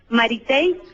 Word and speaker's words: Maritey: Maritey, Mari y latina, T-E-Y. Maritey.